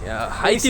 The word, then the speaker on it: Haiti: हम लोग हैसी हाती हाती बो हेशियन हेशियन बोलते हैं ये लोग एक्चुअली बट लिखाता है एच ए आई टी आई हाती प्रोनाउंस होना चाहिए प्र बट ये लोग बोलते हैं हेशियन ठीक है हम